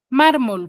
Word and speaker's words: mármol: AC Exacto Ya ahora mármol por qué lo tildo la palabra mármol P chicos dígame cuando tildo por qué tildo yo la palabra mármol por qué tiene la sílaba tónica en la penúltima sílaba m ya Y qué